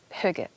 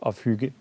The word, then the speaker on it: Hygge: Called, I hope I pronounce this correctly, Hygge. Exactly. Okay. Hygge.